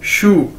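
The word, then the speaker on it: 叔: देखें एस एच यू शू, ये Chinese word है, इसको कैसे प्रोनाउंस करेंगे, जिस तरह हम बोलते हैं जूते को इंग्लिश में शू, एक जूते को कैसे बोलते हैं, शू, एस एच यू शू।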